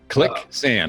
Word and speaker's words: Clicksand: And Clicksand is spelled just like it sounds. Clicksand, like quicksand, only click.